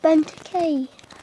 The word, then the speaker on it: Benteke: that ok oh my god oh my god benteke that's how you say it Bentley bend hey